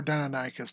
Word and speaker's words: Deinonychus: Yeah, that's Deinonychus or Deinonychus, depending on how you say it.